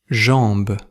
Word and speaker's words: jambe: Maintenant, regardez bien cet exemple : Faites attention à la combinaison de lettres « a » + « m ». Elle fait le son nasal . Regardez bien ce mot et répétez après moi : Jambe.